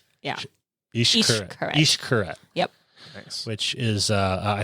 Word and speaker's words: Xcaret: The X makes a sh sound. Yeah. Xcaret.